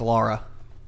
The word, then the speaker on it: Lara: had this conversation of if it's Lara or Laura cross um did you play the game it's Laura there you go pronounced